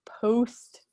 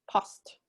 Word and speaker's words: post: Note that the O in post is short, so it's not post, it's post.